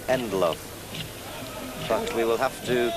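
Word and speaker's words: Ndlovu: I think the name is pronounced Endloaf, but we will have to consult our friends at Commentary City.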